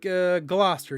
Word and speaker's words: Gloucester: It's like Gloucester. You don't pronounce a lot of letters in that word.